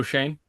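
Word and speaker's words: Schoen: Joe Shane.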